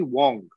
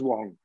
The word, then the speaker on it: Wang: for this thing so it's spelled as w-a-n-g but it's actually wong it's pronounced as wong we always say uh